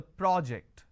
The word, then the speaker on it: project: a first one so when I'm stressing on the first syllable it becomes a noun that means please submit the project I say project this is Project here I say please project the presentation here I say